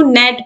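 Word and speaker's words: gnat: silent इन D world तो यहां पर हम ब्लैक नहीं बल्कि इसको नेट पड़ेंगे तो नेट पढ़ेंगे तो ये जो जी है ये साइलेंट हो जाएगा तो ऑप्शन ए जो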